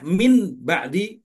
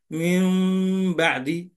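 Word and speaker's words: مِن بَعْدِ: ba Bagaimana cara membacanya Apakah Min ba'di ataukah Mi ba'di ataukah Mim ba'di Rasulullah ngasih tahu caranya harus yang terakhir kalau Nun ketemu lam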